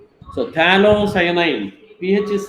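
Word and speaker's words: phthalocyanine: this is T cyanine talo cyanine pH is silent there d h a l c y a n i n so tanine pH is silent there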